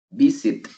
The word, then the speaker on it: visit: Veamos, visit, tiene 2 sílabas. Visit. La fuerza de voz está en la primera sílaba.